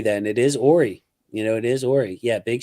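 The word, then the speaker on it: Horry: So I pronounced it correctly. Then it is Ory.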